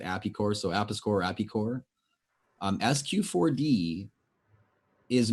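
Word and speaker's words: Apis Cor: Apiscore, again, we tend to pronounce it Apicore.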